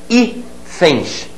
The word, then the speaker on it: hífens: Hífens, hífens, continua paroxítona. Continua paroxítona e perdeu o acento.